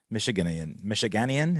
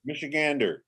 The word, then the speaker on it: Michigander: Another Michiganian. Is that how you pronounce it? Michigander.